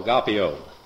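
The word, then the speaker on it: agapao: Now, agape is spelled A-G-A-P-A-O, agapeo.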